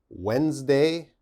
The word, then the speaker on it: Wednesday: Wednesday, Wednesday. Okay, what's the problem? Now, Wednesday has a D, but when we say Wednesday, we don't say the D sound.